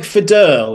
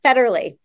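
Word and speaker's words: Federle: uh interviewed your CEO is it Mike fedur is that how you say it f oh I no Mike federally oh federally oh well I Mega Apologize by the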